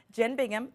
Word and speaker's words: Jen Bingham: Joining us, Jen Bingham. Am I pronouncing that correctly?